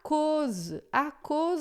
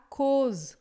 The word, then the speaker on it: cause: Vous êtes déjà pur à cause de la parole. Esse AU em francês é sempre som de O.